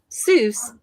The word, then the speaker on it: Seuss: Fun fact, Seuss is supposed to rhyme with voice, not goose.